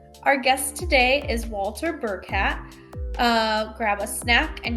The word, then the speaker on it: Burkat: Our guest today is Walter Burkat.